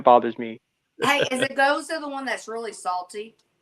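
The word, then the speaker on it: Gose: Weston Feer I get I get annoyed when people can't pronounce goza properly oh yeah oh can I get the ghost can I get the goose that that's my that's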